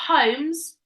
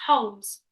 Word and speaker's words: Holmes: Yeah, it's a silent L. So it's not Holmes, it's Holmes.